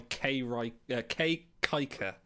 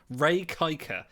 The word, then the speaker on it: Ray Kiker: Yeah, Ray Kiker, not K Riker.